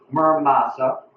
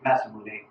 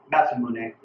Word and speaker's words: Masamune: the Tatara stainless steel Murmasa. I could be butchering that again. Murmasa, I don't know. Masamune, I think that's how you say it actually. Masamune. I've been butchering that the whole time. Masamune.